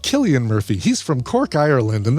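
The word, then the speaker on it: Cillian Murphy: Silly Murphy's name is pronounced Killian Murphy.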